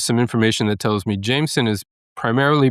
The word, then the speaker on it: Jameson: They are putting the clear third syllable in there.